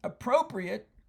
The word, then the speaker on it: appropriate: Appropriate can actually be two different parts of speech according to how you pronounce it. If you say appropriate, that means suitable or proper to the circumstance.